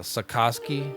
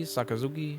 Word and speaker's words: sakazuki: A sakoski. Sakoski. Sakazuki. Sorry guys, I'm extremely East Coast American.